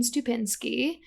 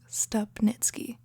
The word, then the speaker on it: Stupnitsky: This is Editing Jenny popping in to say that we said Gene Stupnitsky's name wrong the entire episode. I'm sure he gets that a lot, but for the record, it's Stupnitsky.